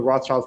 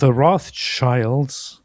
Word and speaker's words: Rothschild: I'll just refer to them as the Rothschild family because that's how it's pronounced, and I have a very No, big we got thing to with. go with the authentic Sneako pronunciation. I have a. I mean, I know lots of people pronounce it as Rothschild, and I usually don't say anything, but I don't want to pronounce it as Rothschild because it's Rothschild, but which just literally means red sign or red shield.